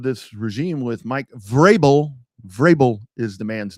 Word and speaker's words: Vrabel: Vrabel is the man's name, by the way, on the NFL awards last night. That name was grossly mispronounced. It's Vrabel.